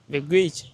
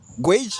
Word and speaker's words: gauge: Au fait, il a eu le son de la voyelle d'une partie, on va dire, des voyelles, mais on a une petite erreur ici. Au fait, ça sera gauge.